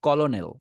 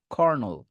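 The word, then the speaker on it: colonel: উচ্চারণ করতে প্রবলেম হয় অনেকে বলে কলোনেল বাট এটা আসল উচ্চারণ হবে কর্নল খর বলবেন খর নাম্বার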